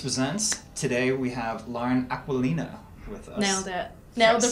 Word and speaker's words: Aquilina: Today we have Lauren Aquilina with us. Nailed it. The pronunciation.